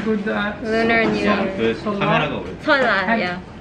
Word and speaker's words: 설날: 설날, yeah.